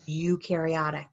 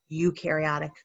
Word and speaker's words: eukaryotic: a tree good that's eukaryotic right because everything is eukaryotic except bacteria number five a cell is observed under the microscope and has a nucleus it does have a nucleus you rhymes with do number six a cell